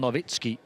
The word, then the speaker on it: Nowitzki: moves there of Simon novitsky polish forward same name pronunciation is Dirk the German spelling I believe for the lead